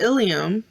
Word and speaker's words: ilium: a female but be careful don't confuse the ilium ilium with the ilium i l e u